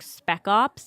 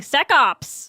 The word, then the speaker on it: spec ops: It was like spec ops, and I kept saying sec ops. And they're like, it's spec ops. Can I try it again? And I'd be like, spec ops!